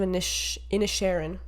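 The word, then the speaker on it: Inisherin: get to it I guess um banshees of initial in a Sharon that's how you pronounce it because I watched it I watched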